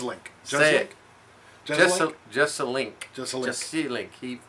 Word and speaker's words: Jeselnik: I've been to watched Anthony just a link is how we pronounce it just name so I'm